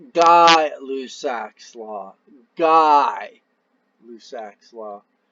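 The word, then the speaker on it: Gay-Lussac: pretty darn close under lab conditions so it's pronounced die lussac's law guy lussac's law it's French right wheely the pressure and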